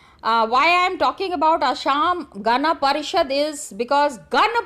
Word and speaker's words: Assam: It is not Assam, it is Assam. In the Assamese language only you pronounce it in that manner.